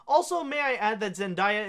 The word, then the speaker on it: Zendaya: Also, may I add that Zendaya is pronounced with an I-ya instead of ya.